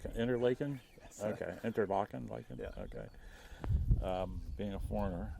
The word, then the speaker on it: Interlaken: And why Pronounced Interlaken by the locals. Interlaken? Yes. Okay, Interlaken, Yeah.